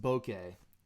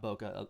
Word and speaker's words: bokeh: in this thing okay it's pronounced bouquet actually it's not bokeh the Americans call it bokeh it's actually bouquet Julia